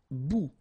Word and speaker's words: bout: Un bout. Remember, final T not pronounced.